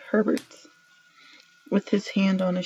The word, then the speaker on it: Herbert: Why did I say Hubert? I know how to say his name. I said it wrong. Said Herbert, with his hand on his shoulder.